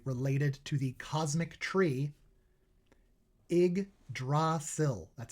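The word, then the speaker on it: Yggdrasil: Igdasil, that's how you pronounce that. Idrasil.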